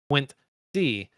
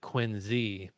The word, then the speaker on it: Quincy: Pronounce Quinty. A Boston native would have pronounced it Quinzy.